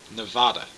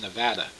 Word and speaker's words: Nevada: hear it is when people say pronounce Nevada as Nevada now I I I I I realize that is the proper closer at least to the proper for Spanish pronunciation of the name but it's not Nevada it's Nevada I especially hate it when